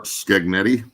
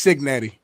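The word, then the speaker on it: Cignetti: The IU coach per Skaggnetti. It's Signetti.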